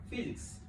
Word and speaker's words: physics: And so today, I just want to briefly take us through physics, as a catchy introduction to those people who are getting this word for the first time. Physics, this PHY is pronounced as F.